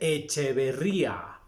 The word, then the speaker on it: Echeverría: que aquí en méxico no se les dice que ver ya se les dice echeverría con doble ere porque luego me han regañado que dijo echeverría pero es que aquí en méxico se pronuncia se vería no hablamos en latín